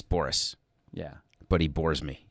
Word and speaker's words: Boras: it do you do you do you say borass that way deliberately or is that just how it's actually pronounced it's Boris yeah but he bores me he's bored me